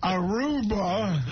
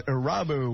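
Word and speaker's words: Irabu: Hideki Aruba. I think the proper pronunciation, Harry, is Arabu.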